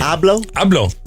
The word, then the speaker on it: Abloh: Abloh.